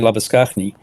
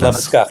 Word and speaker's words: Labuschagne: Gerard, you were going to Well, it's interesting because I often, with the surname Labuschagne, people always assume that my name is Gerard.